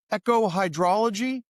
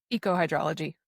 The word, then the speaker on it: ecohydrology: My guest today is Emily Fairfax who is with the University of Minnesota echohhydraology. Did I pronounce that correctly? Ecohydrology.